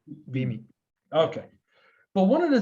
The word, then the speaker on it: Beamy: everything so is it is it bemi or bimi how is it properly pronounced yeah be me okay but one of